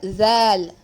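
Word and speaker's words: ذ: Zal. Now see, when you pronounce this letter Zal, your tip of the tongue will be touching the upper incisors, the upper 2 front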